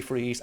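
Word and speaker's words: Friese: it's not like fries. Yeah, I'm not sure, but I think it's pronounced freeze, but spelled differently.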